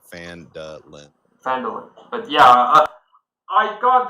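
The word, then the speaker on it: Phandalin: The pronunciation they actually say is like Fandalen.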